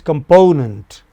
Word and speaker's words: component: On the other hand, component, then po. Listen once again. It is component. Okay? So po takes nearly as much time as com and nent together.